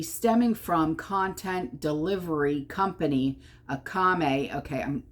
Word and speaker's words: Akamai: So the problem could be stemming from content delivery company, Akame.